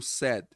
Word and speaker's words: said: O D aqui geralmente some, né? Mas às vezes você vai ouvir o said.